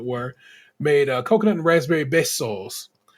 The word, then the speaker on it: besos: made coconut and raspberry besos, which they pronounce bezos, and it made me just say, y'all really don't be trying.